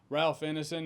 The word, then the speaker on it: Ralph Ineson: Ralph Ineson, as far as I can tell, is how you pronounce this.